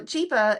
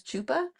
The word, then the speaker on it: Chapa: is Chapa okay so Chapa is trying to help her and trying to translate and he's camping out with her trying to make sure whatever um and she kept mispronouncing his name as Chupa which has a very